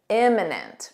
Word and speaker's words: imminent: Imminent with an I, notice this pronunciation, im, imminent.